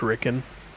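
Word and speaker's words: Riken: I think it's pronounced Ricken.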